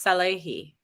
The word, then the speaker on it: Salehi: It's Salehi. Yes. Salehi. Okay.